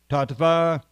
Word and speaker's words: tattva: the personality of Godhead, Tattva, or we can pronounce it as a V, I suppose, Tattva, knowledge, Vijnanam, scientific, Mukta, liberated, Sangasya, of the association, Jayate, becomes effective.